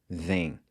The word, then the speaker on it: vêm: In the present tense, we've got venho, vem, and vem. So both of these are pronounced the same way.